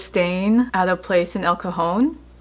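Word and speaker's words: El Cajon: at a place in elcone it's spelled c AJ o n and you know he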